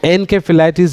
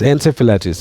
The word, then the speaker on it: encephalitis: Like encephalitis is wrong. It's encephalitis. Yes.